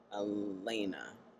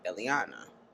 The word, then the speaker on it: Eliana: the last video that I was calling her Elena, which is not her name, it's Eliana.